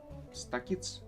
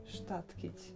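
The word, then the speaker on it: Statkić: you're Stakic? Statkic. Statkic. Yes, you're very close. Statkic. It's a very difficult surname to pronounce. It's reminding me of static.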